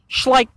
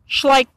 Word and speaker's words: Schleich: two yeah that's how you that's how you pronounce it schleich schleich rhymes with like smash like now schleich share